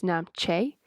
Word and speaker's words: Namche: We reached Namche [pronounced incorrectly] Actually wait stop I have to interrupt you there Kat. It's Namche!